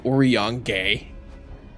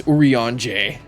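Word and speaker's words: Urianger: pronounce isa's name well it took me a bit to try and pronounce Oran for a while I was saying it as like orong or a yaner no it's uran bigs is in the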